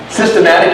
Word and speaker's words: systematic: Systematic, you spell it S-Y-S-T-E-M-A-T-I-C. Systematic. System and then attic. Without the T.